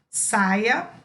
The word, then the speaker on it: saia: Uma é saia e a outra é saía. Então, reparem que são duas pronúncias diferentes. Saia e saía.